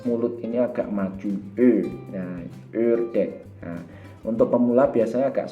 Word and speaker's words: ördek: Kemudian ini yang berbeda, ada O tapi titik 2, itu bacanya E. Jadi agak ditekan masuk ke dalam dan biasanya bibir ini maju ke depan. Ini contohnya adalah ördek.